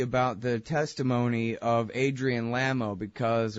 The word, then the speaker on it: Lamo: of Adrian lamo because or is it lame oh I don't know if if it really is lame oh I don't want to have been mispronouncing it this whole time and let him go ahead and have that but it's Lama okay and so now he